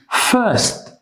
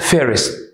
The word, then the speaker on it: first: So they say first, but they write one ST, first. First, not fairest. It's first.